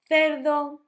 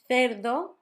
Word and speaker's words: cerdo: You can always say as an S, because some countries and some parts of Spain, instead of making the th sound, make an S.